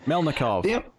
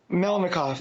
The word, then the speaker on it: Melnikov: art from from melov I always butcher the name melov melnikov there we go um the only problem